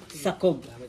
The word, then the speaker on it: Saob: proper pronounce it is sakob There's a letter k in a middle of a and o but during Spanish era